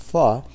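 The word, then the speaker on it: phở: you very much louisa so um p-h-o but pronounced phi has an interesting history it actually was uh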